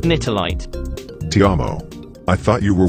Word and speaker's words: Nitelite: Second, prodigium consumption makes people susceptible to mind control, a trait also found in an alien crystal called nightlight. It's pronounced nitolite.